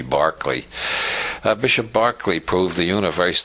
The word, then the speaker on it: Berkeley: Bishop Barclay George Barkley after whom the city of Berkeley is named because Americans don't know how to pronounce Irish names it should be Barkley Bishop Barkley proved the